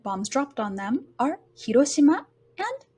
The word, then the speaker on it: Hiroshima: So you'll notice that Hiroshima, the hi is a lower pitch sound and Roshima is a higher pitch sound and it stays high. Hiroshima.